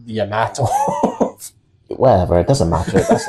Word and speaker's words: Yamato: It's Yamato, not Yamato.